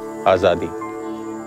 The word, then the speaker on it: Azadi: Azadi, right? Azadi.